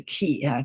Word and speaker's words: quay: This word is pronounced quay, Q-U-A-Y, which means the docks.